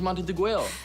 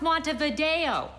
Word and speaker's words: Montevideo: of your way is mounted the grail it's pronounced montevideo monte monte de ver